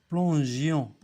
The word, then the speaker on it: plongions: Parce que G avec I, ça prononce J, comme la girafe.